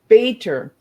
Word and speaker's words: Bator: Bator. Bator. Yeah, there we go. See, sometimes I pronounce the letters instead of the flow of the word, right?